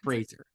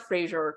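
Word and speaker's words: Frasier: Fraser, not Fraser. It's not Fraser Crane. Fraser. Yes. Okay. I've been saying it wrong for 30, 40 years, Joyce. So I look forward to trying to say it right now.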